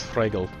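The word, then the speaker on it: Fruegel: how you spell it I think it's the same but with an a first my the first e h okay so his name's like fragel that's probably the best way to say it like the true pronunciation of his name is fragel head Wen fragle Emperor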